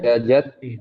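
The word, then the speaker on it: tyajaty ante: How do you pronounce this? Tyajati, is it? Tyajatyante. I'm sorry. Tyajat Tyajat Yante. Tyajat Tyajat Yante.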